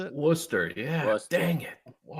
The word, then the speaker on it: Worcester: Was that how you pronounce it? Worcester.